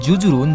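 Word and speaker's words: جزر: যা এবং র আর এই ওয়ার্ডটির উচ্চারণ হচ্ছে জুজুরুন যেটা আমরা গুগল ট্রান্সলেশন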